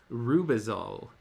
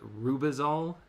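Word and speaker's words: Rübezahl: I managed, however, to read the next story in Rubisol.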